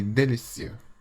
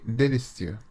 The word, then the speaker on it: délicieux: The letter E with an acute accent, like the one in délicieux, should be pronounced like the vowel sound in the English word pay, but without the Y sound.